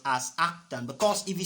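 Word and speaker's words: arctan: of V over u please this is not pronounced as tan inverse it is pronounced as actin because if you say it's tan inverse tan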